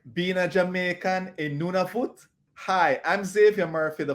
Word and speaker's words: Nunavut: you can be um it took me a while to actually pronounce it and if i talk to some of my inuit friends they'll still say no sonia so it's nunavut and so that's you